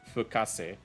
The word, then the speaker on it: Fukase: This is Plain Asia Fukase remix, and this name is pronounced Fukase.